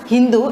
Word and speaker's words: हिंदू: संस्कृत का एक वर्ड है सिंधु, उससे आया हिंदू। Which means river Indus, जिसका मतलब क्या होता है? सिंधु का मतलब एक नदी का नाम दे रखा है Indus. It was pronounced हिंदू in Persian, और इसका जो प्रोनाउंसिएशन